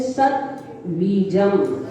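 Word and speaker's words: सद्बीजम्: सिद्ध चक्रस्य सद बीजम, सद नहीं बोलना, दा पूरा नहीं है, दा हलंत है, दा में हलंत लगा हुआ है इसलिए आधा है, तो इसका उच्चारण करेंगे सद बीजम।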